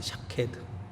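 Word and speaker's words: שָׁקֵד: 그래서 살구나무가 샤케드라는 뜻이 샤케드. 발음이 샤케드.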